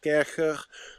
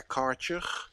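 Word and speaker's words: Kärcher: low for like a kercher or as your Americans say, a karcher, high pressure washer. It's Kercher, by the way. It's not karcher. It's German, Kercher.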